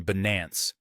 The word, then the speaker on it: Binance: Similarly, a community poll from Leo Schwartz revealed that the majority of voters favored the pronunciation Binance, with the emphasis on the second syllable.